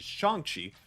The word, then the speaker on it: Shang-Chi: doing awesome i might be in end up mispronouncing the same it's apparently it is shanxi so make sure i get that correct well